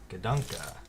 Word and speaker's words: Gadunka: How do you pronounce this Bionicle name? So the phonetic spelling was just Gadunka. Gadunka.